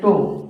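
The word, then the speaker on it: τ: कहीं आ जाता है, इसको पढ़ते हैं टो। क्या पढ़ते हैं फ्रेंड्स? टो। कितने लोग टाओ भी बोलते हैं और कितने लोग, आपको एक्चुअली इसका शुद्ध प्रोनाउंसिएशन है टो।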